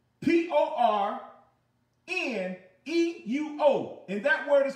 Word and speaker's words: porne: Now, There's another word that's porne, which is the same thing, or it's spelled out P-O-R-N-E, but it's pronounced porne.